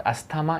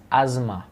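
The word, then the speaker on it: asthma: इट इज़ नॉट अस्थमा, इट is pronounced as अज़मा।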